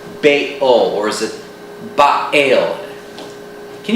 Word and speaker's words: Baal: You know, the glottal stop between the bay and the ul is very difficult to pronounce. Baal, or is it Baal?